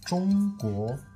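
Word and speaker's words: 中国: Tout ça, ça se prononce Zhongguo.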